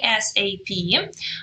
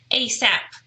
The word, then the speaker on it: ASAP: really interesting one because sometimes it does function as an initialism and we say is a PM but very often it is actually the acronym and you pronounce it as ASAP all right so that would be the whole word ASAP and which means as